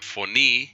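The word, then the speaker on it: φωνή: Esta es la palabra foní, fonís, foní. Vean que se pronuncia igual que aquí. Se pronuncian igual el caso dativo con el caso nominativo, foní, foní.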